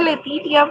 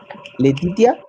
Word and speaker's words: Letitia: La, la Etitia, Se pronuncia Letitia, profe. Letitia.